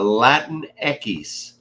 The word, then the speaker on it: Latinx: he is he is a latin ekis because you shouldn't be saying latinx for people and eckies is how you say x in spanish why do they why